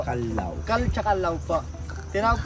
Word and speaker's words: Callao: Yung second pronunciation nila which is yung Callao. Callao po is Spanish word po yun ang ibig sabihin. Peaceful or quiet place po siya. Yung correct pronunciation natin it's Calao Cave po.